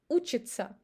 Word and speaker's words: учится: We pronounce it as ца. For example, волнуется, учится. We don't say учится или волнуется. We say ца, волнуется, учится.